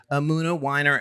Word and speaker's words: Emunah Winer: an award-winning creative agency founded by creative directors Amuna Winer and Margaret Margie Kerjar. Did I get You have pronounced all the things correctly.